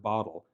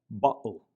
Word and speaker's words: bottle: an type of sound, kind of like the way the double T is pronounced in the Scottish pronunciation of the word bottle, bottle. And forgive my poor Scottish accent, bottle.